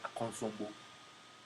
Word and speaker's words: Akosombo: Into a place like Ubiabeka say Akosombo, we were made to say Akonsombo.